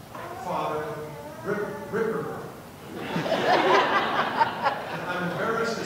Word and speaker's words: Ripperger: Let me pronounce his name for you. It's Father Ripperger.